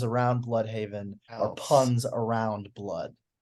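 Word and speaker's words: Blüdhaven: But might I offer the fact that everyone else pronounces it as blood, and like all of the names around Bloodhaven are Else.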